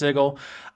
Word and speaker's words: Sigil: looks like it's spelled sigil but it's supposedly pronounced sigle um which is explicitly a place where portals